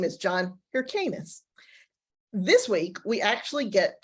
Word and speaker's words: Hyrcanus: It's Hyrcanus, not Hyrcanus. I do that sort of